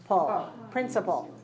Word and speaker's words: principle: Principle is a noun, and we have 3 syllables, P-R-I-N dot, C-I dot, P-L-E. Principle. Principle. Principle. And syllable stress code is 3-1.